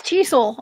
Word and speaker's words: Tisul: Okay, so you're asking the wrong person, but it's Tisul. I say Tisul. Yes, that's how I pronounce it.